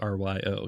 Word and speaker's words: Ryo: It's not consistently pronounced. It is Rio. It is Ryo.